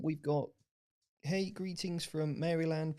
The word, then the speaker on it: Maryland: got hey greetings from Maryland pronounced meryland by locals any thoughts on heal